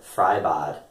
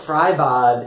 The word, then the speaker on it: Freibad: but still some of my students have mentioned fry bod and they've asked how do you say fry